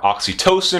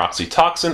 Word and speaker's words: oxytocin: posterior L produces are oxytocin or oxytoxin I've heard it pronounced both ways as well as antidiuretic